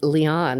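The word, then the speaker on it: Liane: and big little lies is it Leon moriarity or lion it's Leon you actually did say it right like Leon the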